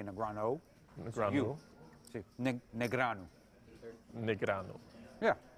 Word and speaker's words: Negreanu: I would say Negrano. Very close, very fine with accent. It's there's no O. A lot of people say Negrano.